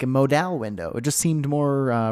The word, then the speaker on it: modal: specific thing we're gonna code I used to pronounce it funny so I used to call it Modell's like a modal window it just seemed more romantic it seemed